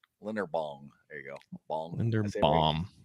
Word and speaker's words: Linderbaum: He says every day we talk about Linderbaum, and every day Jeff says his name wrong. Linderbaum.